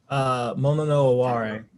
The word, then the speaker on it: mono no aware: Actually, for our own, my own edification included, could you tell us how to pronounce the phrase in your paper? Mono no Aware.